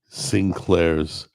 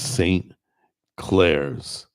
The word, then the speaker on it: St. Claire's: So, it's saying it's not Sinclair's potato salad. It's St. Claire's.